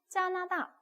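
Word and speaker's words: 加拿大: 캐나다 이렇게 써도 되지만 중국은 그게 안 되니까 비슷하게 가져와서 막 한단 말이에요. 캐나다 이렇게. 그래서 짜나다 이렇게 된단 말이죠.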